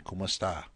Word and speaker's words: kumusta: In this case, the como está was modified and pronounced as a Tagalog speaker would put it. Okay, and it's still in the language now. It's very, very common. Kumusta?